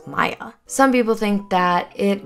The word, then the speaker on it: Maia: an issue with Maya if I've been saying Mia I'm very sorry her name is spelled m-a-i-a and for some reason I want to say It's Mia but I know it's Maya some people think that